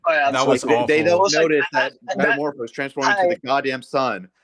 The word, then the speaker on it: Metamorpho: Uh um is metamorphosis carrying uh when transformed a plot problem or plot hole? Metamorpho.